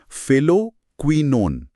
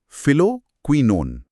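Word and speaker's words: phylloquinone: सर, ये जो vitamin के का वैज्ञानिक नाम है फाइलोक्विनोन, इसका सही उच्चारण फिर से दोहरा सकते हैं क्या? हाँ बिल्कुल, इसे टुकड़ों में तोड़कर पढ़ना चाहिए। फिलोक्विनोन। फिलोक्विनोन।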